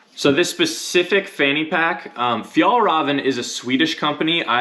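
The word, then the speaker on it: Fjällräven: coast hit pack so this specific fanny pack fjallraven is a swedish company i had to look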